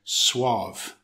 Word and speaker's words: suave: So, suave, it's an adjective with one syllable. It's pronounced suave.